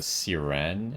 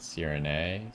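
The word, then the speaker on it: Sirène: Um, Ferriso was saying this area as uh Siren and not Sirin. So maybe I'll say it like that.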